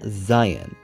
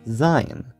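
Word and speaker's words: זין: Today we're going over the 7th letter of the Hebrew alphabet, called Zayin. But I should probably note that sometimes people will pronounce it as Zine.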